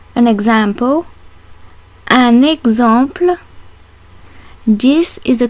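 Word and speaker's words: exemple: word Fox and finally the X in the word example is between two vowels and is pronounced like the X in the English name Alexander how is the letter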